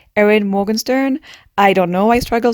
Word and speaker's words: Erin Morgenstern: making a youtube video i should learn how to say the author's name aaron morgan's morgenstern editing ava coming in just to say that i've learned how to say this author's name which is erin morgenstern i don't know i